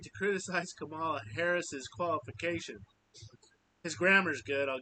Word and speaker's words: Harris's: Harris's is how you say that.